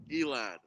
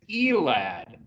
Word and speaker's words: Elad: safety jet and jet pronounce your last name for us elan it is elad and on every one